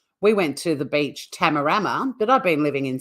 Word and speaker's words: Tamarama: we're more English and we do it the other way. So I was like, oh, I had a great day. Oh, no, where are we going today? To Tamarama. And everyone lost their shit. And they're like, no, it's Tamarama.